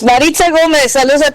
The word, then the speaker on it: Maritza Gomez: It's Marita Gomez.